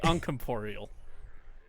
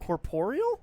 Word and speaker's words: corporeal: yeah are they uncomporeal I think you're saying that word wrong how do you say it I don't know that I'm my brain broke help me Google that's c-o-r-p-o-r-e-a-l I think corporeal yeah or polio you up corporeal there we are oh